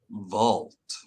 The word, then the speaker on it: vault: The word is vault. All, not old.